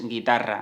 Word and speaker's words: guitarra: When you see gue or gui, the pronunciation will be /ge/ or /gi/, which means that this u is silent, it is not pronounced.